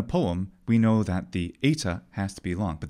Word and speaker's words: eta: for sure is that the ETA is definitely pronounced as a front mid vowel the other thing we can be certain about is that ETA is not a short vowel but a long vowel a phonemic long vowel this is commented all